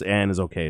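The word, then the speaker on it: Annisokay: anna sock it looks really weird but it's pronounced it's and is okay is really what it is and i i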